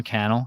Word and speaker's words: Cannell: like media on Canal Sean Cannell yeah he always says rhymes with YouTube channel um anyway he has